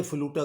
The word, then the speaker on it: flutter: तो ये फ्लूटा करके आपसे पूछा जा सकता है, यानी FLUTUH, इस तरह का बनेगा प्रोनाउंसिएशन।